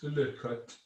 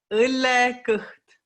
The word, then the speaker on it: õllekõht: things even more difficult, the vowels have 3 different lengths. And after 25 years of drinking splendid Estonian beer, I still can't properly pronounce the word for beer belly, which is ullekut, the word at the bottom of this screen. So I'm going to ask a native Estonian speaker now to pronounce these 3 words so you get a view of the long Estonian vowels.